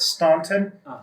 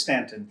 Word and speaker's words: Staunton: I pronounced it Staunton, and when I came down for my job interview, I think at the hotel, I said Staunton and was corrected right away that it was Staunton.